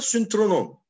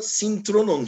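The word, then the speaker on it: synthronon: Ona da syntronon deniyor. Ben ona syntronon diyordum. Meğer Yunanca'da S'den sonraki Y, Ü okunuyormuş. Syntronon. Yani birlikte oturdukları yer.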